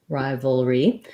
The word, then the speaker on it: rivalry: theme of today because the letter i in rivalry says rivalry says the i sound so that one is the diphthong i so in the dictionary you're going to see syllable stress on the first syllable ri vol re so the letter y is the one that actually says the e sound in this word and it sounds like